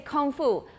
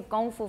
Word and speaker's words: gongfu: like kung fu and when you hear people talking in english about it they will say kung fu kung fu fighting you can find the pop song on youtube kung fu fighting they don't say gongfu fighting but that may be